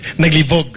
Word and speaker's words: naglibog: kasi ayaw niya Oo the accent should be faster naglibog not on the first syllable okay Kasi naglibog okay Anyway ang gusto